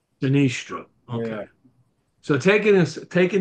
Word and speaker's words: Sinistro: all the time and then we've had people pronounce it Sinestro or Sinestro um but it we pronounce it sinistro sinistro okay so taking us taking the taking the